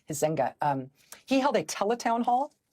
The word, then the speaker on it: Huizenga: It's Huizenga, Huizenga.